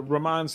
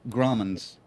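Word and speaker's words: Grauman's: she's now at the Ramon's Theater, Chinese Ramon's Theater. What is that? Is that what am I saying it right? Gromans. Ramens. Yes, Gromans with Gromans with a G.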